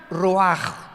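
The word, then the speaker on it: רוח: escribe ruach como suena con r de Raúl ch al final rach y se pronuncia raj Entonces cuando hablamos de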